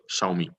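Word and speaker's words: 小米: to read this is X is sh xiaomi okay so it was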